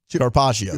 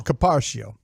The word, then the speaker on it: carpaccio: Carpaccio. Carpaccio. Yeah, I said it wrong again. Yeah, you did. You find a way to just wedge an extra R in there that's not needed, but it's okay.